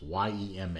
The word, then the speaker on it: Yema: I believe I'm pronouncing that right. It's Y-E-M-A. It looks like Yema to me.